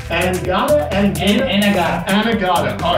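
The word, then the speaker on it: Anegada: Anagata.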